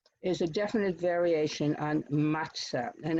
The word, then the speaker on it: matzah: a definite variation on matzah and if you look how the word pizza is pronounced with as if there was a t there you can understand how mazza became matzah there's also